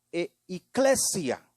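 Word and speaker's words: ἐκκλησία: En primer lugar, la iglesia, en su origen o su significado primario, se pronuncia casi igual como la pronunciamos en castellano o en español, pero se oye como eclesia.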